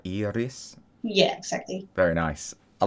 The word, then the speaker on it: Iris: Iris. Yeah. So it's like double E-R-I-S. Oh, okay. And you roll the R. You're like Iris.